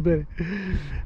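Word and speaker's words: Beslé: Donc mise à l'eau de Belley en Loire-Atlantique. Beslay, c'est écrit Beslay, mais bon, Belley, ça se prononce Belley.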